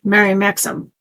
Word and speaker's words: Mary Maxim: And there's no U in there. I don't know how I don't know why people say Mary Maxim because there's no au in there. Mary Maxim. That's how I pronounce it.